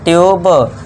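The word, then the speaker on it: tube: दूसरा देखिए जब वर्ड में यू आए और यू के बाद कोसोनेंट को छोड़कर इ आए तो यू को यू से ही पढ़ना है। यू आए इसके बाद कोसोनेंट और लास्ट में इ को आपको पता ही है इ का साउंड नहीं करना है।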